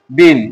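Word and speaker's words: bean: এরকমই বিন বি এন বিন এখানে এটা পড়া যাবে না। এটাকেই ইংরেজিতে সাইলেন্ট লেটার বলে।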